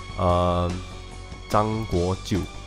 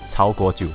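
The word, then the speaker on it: 曹国舅: So as I mentioned earlier, Zhang Guojiu, is it? Did I pronounce that correctly? Cao Guojiu, sorry.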